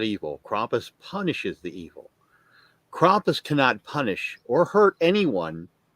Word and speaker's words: Krampus: Some say Krumpus. Potato. What is the pronouncing? The right pronouncing? Krampus. Krampus. Krampus is the correct Okay.